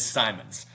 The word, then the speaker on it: Simons: bravo on the pronunciation, because I always wanted to say Simmons, and a lot of people have wanted to say Simmons. And Kevin, I'm sorry, because I mispronounced it at Media Day, and I'm never doing it again. So we've got it down. It is Simons.